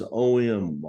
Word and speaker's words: AUM: to say it the most common way to pronounce it is om and that is The Binding of the 3DS